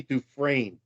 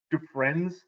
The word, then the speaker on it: Dufresne: It's Andy Dufresne. Dufresne. What did I say? Dufresnes or Dufresnes or something. That's how Fresnay. Google said to pronounce it.